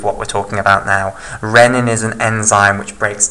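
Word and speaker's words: rennin: are both proteases okay also note this is pronounced a Renan not riemann okay and it's got the double n as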